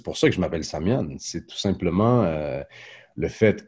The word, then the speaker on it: Samian: de naissance c'est Samuel, mais y a pas de L et il y a pas de U en algonquin, donc ça se prononce «Samian». Donc c'est pas un nom d'artiste, c'est pas un nom de scène, c'est pas... Non! C'est juste qu'un Algonquin qui veut prononcer "Samuel" va prononcer "Samian".